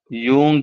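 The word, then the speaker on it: Jung: उनके मुताबिक दर्जा बंदी कार्ल यूंग की दर्जा बंदी इससे कार्ल बाज लोग यंग भी कहते हैं और बाज लोग इस लफ्ज को प्रोनाउंस करने में कार्ल जंग भी कहते हैं दोनों एक ही हैं ठीक है राइट तो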